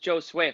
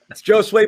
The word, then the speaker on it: Josue: we have to say it is pronounced joe sue for everyone in the comments who's saying we're pronouncing it wrong correct that's true that's true thank you yeah jose pavano josue pavone people get used